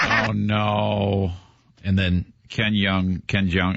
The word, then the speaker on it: Jeong: And then Ken Jeong, how do you say Ken it? Jeong.